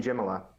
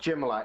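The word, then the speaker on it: Jamillia: name of the new queen of Naboo Queen Jim a lot that's how they pronounce it it spelled Jamelia but it's pronounced Jim a lot in the movie I'm gonna say correct because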